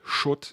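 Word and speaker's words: Schutt: name because uh it's it's a German word it's pronounced shut and it means uh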